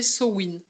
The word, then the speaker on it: Samhain: moi je le prononce Amen pour celles qui ont pas, qui Ouais.